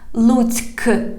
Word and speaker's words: Lutsk: We have K at the end of this word. Pay attention. Lutsk. Lutsk. Lutsk. But perhaps it sounds like because it sounds like a hashing one at the end. Lutsk.